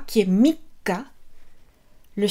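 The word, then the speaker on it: 三日: Ensuite, pour le 3, mikka. Mikka. Donc là, ici, on retient. Mikka.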